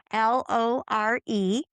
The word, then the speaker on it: Lore: Okay, my first name is spelled once again, l o r i, like folklore, okay? It's pronounced Lori, though. Uh my last name is